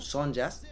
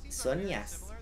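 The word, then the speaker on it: Zhonya's: No se dice Sonja, ¿cómo se dice? Relojito de arena, la concha de tu madre. Sonias, la Sonia, que cobra 20 el pete.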